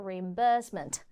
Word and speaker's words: reimbursement: 그래서 reimbursement라고 예쁘게 발음할 수도 있겠지만 영국 호주에서는 reimbursement, 이 burst 부분에 강조를 해주죠. reimbursement.